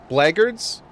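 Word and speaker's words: Blackguards: Bleagards. Bleagards. If it's pronounced bleagards, then why does it have a ck in it? Why is it bl Why is it literally the word black gu and then guards?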